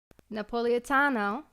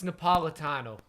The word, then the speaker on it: Napolitano: Napoleano. It's Napolitano. Napolitano. Not Napoleano. Holy It's not Napolitan. Who knows how to say it? Napolitano. No, Napolitano. It's after Napoli.